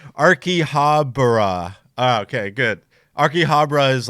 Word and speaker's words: Akihabara: And then Genzo said pronounced Akihabara. Oh, because I said it wrong. Akihabara.